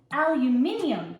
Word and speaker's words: aluminium: There is an I. You're missing a whole letter and a syllable. Aluminium.